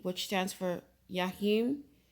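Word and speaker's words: Jachin: b which stands for yahim and boaz and i may be pronouncing it wrong i just know that jay is silent when it comes to this language the hebrew language okay um i'm gonna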